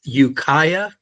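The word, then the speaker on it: Ukiah: Jacob Brock and uh do you want to pronounce the name of the this town or city you're from again Jacob? It's Ukaya, California. Okay. Ukaya.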